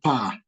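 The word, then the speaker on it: paa: That's where we call pa. It's also close to the roofing part. It's called pa. So it's being pronounced as Pa.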